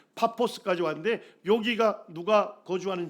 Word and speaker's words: 파포스: 가로지르면서 복음을 전하고 예 바보같지 왔어요 파포스 예 발음을면 파포스 아지 왔는데 여기가 누가 거주하는 지역입니까 예 여기